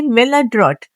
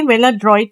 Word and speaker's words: maladroit: ये है मेलाड्रॉट, मेलाड्रॉट, ठीक है। मेलाड्रॉइट नहीं होता, ये मेलाड्रॉट होता है, ठीक है।